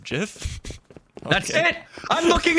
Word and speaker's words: GIF: Just like GIF is pronounced JIF? Okay. That's it! I'm looking it up! I'm done! It is pronounced JIF, not GIF!